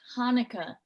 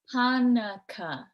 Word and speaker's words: Hanukkah: for hunka honey honey it's hanukkah hanukkah three syllables i said i don't think so you mushed them together three distinct syllables are you sure that's